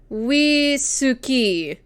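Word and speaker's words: ウイスキー: Yeah, so wisuki is how it here. Wisuki would be how it is pronounced in.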